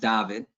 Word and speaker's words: David: Unfortunately for everybody, it says David, but it's actually pronounced David.